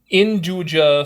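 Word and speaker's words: 'nduja: Induja sausage is an Italian sausage. No, not andouille.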